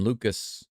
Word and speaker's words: Lukes: Nathan Lukes, or Lucas. His name is spelled Lukes. I've been calling him Lukes, but I think they just called him Lucas.